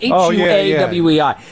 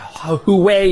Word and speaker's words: Huawei: I think it's pronounced YA or it's spelled H U A W E I. Yeah, you got it right, Armageddon. Yeah, Huawei or Huawei.